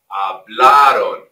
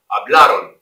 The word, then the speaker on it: hablaron: You guys, notice, hablaron, hablaron. A lot of you come in when you want to say hablaron. No, no, hablaron, hablaron. The stress is on that A.